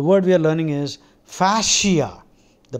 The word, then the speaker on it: fascia: J Shri the word we are learning is fasia the pronunciation is fasia uh probably if it had been spelled f